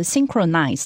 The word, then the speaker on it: synchronize: 没错，所以刚刚呢，这个 Steven 老师也帮我们拼了动词 synchronize 的部分。那确实如他所说，但是因为这个字实在是太长了，所以呢，你用 sync 其实就可以了。 Also, one thing to point out is, don't forget the H in this word is silent.